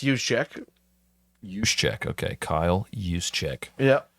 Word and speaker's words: Juszczyk: Well, it's Juszczyk. Juszczyk, okay, Kyle Juszczyk. Yeah. Spell that.